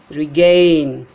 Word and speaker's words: regain: Regain. Regain. This word gain, gain, the syllable gain is stressed, but not the prefix re.